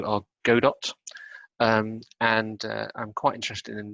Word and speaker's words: Godot: There's since been an open source product called it's either pronounced Godot or Godot, and I'm quite interested in that, and I